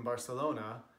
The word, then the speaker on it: Barcelona: I've even been corrected by people in Barcelona having a complete English conversation with them, but then they say, no, it's pronounced Barcelona. Okay, sure it is when I'm speaking Catalan.